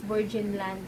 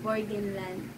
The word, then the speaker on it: Burgenland: So, ang bigkas ko dati sa Burgenland is Burgenland. So, mali pala yun, is Burgenland.